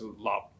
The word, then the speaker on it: 腊: Perfect match the first line, and the character la is pronounced as lap in Middle Chinese and Cantonese.